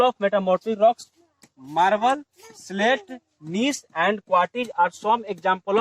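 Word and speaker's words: gneiss: So marble, slate and नीस, इसको जिनिस लिखे लेकिन जी इसमें साइलेंट रहता है, नीस इसको पढ़ेंगे।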